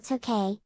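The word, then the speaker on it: Tōkei: the early meiji period the city was sometimes called tokay an alternative pronunciation for the same characters representing tokyo making it a kanji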